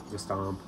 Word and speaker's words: Gestamp: It's a Gestamp. That's how they pronounce it.